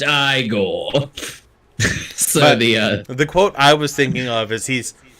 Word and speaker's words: Igor: And when he calls him Igor, no, it's pronounced Igor.